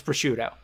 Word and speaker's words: Prosciutto: you pronounce it uh wait is the food pronounced pursuit or prosciutto prosciutto his name is prosciutto okay yes i thought that they just [